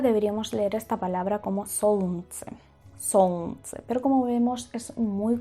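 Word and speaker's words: солнце: esa complejidad de pronunciación, lo que hacemos los rusos es eliminar la letra L o la letra más compleja que no pegue mucho en la pronunciación. Así que en este caso es la L.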